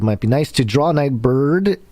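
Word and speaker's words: Nightbirde: i'm saying it right is it night bird or night birdie for the purposes of this exact moment we'll do night bird oh okay night bird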